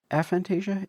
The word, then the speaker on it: aphantasia: A aphantasia. Aphantasia. Fant aphantasia.